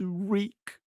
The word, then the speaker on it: Reek: your name Chucky boy my name is reek reek rhymes with freak say again look at